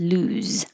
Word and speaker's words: lose: It has a Z at the end, lose.